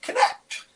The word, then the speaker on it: Knecht: NE C HT but it's pronounced connect like connect the dots he is the president